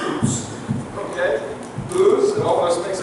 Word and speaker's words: Uz: I don't know how you pronounce that, but he pronounced Uz.